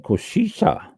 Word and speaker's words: cosecha: Next one, Cosecha, Cosecha, Cosecha. It's Spanish for vintage. I never knew that. I probably pronounced it wrong anyway.